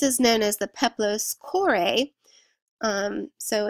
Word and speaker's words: Kore: This is known as the Peplos Chore. So it's spelled Kore.